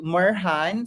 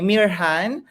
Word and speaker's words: Mirjan: our guest or to murhan sorry sorry kanina i for um i mispronounced your you know your first name anyway mirhan okay so you can ask only one called me mere jan the first time so i understand